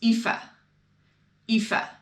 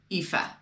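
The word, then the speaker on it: Aoife: how they're spelled so this name is ifa which is spelled a-o-i-f-e ifa right to me makes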